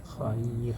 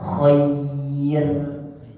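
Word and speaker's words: خير: Jadi bacanya khair, bukan bacanya khair. Enggak. Khair juga sama seperti ghair. Kalau dibaca tipis pun dalam berharokat ghairil, bukan ghairil. Enggak. Ghairil, khair dan ghair dibaca tipis. Jadi di sini itu hukum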